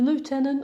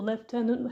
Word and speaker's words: lieutenant: The lieutenant or left tenant, however you want to pronounce it, Quasi is obviously a